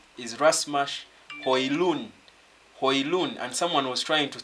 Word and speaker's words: Højlund: By the right pronunciation of this boy's name is Højlund. The D is silent. It's end on the N. The way you say honest, the H is silent.